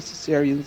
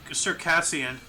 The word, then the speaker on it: Circassian: I think it's pronounced Circassian. Because isn't cesarean what they do to pregnant women who can't Yes, give birth? yes.